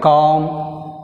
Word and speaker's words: calm: Next word, calm. 34, calm. Calm. L silent.